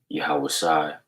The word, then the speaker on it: Yahawashi: name is yahawah bahasham yahawashi which is his son's name all right and when you praise him you give praise through his son and his name which is a Hebrew name pronounced yahawashi okay and to give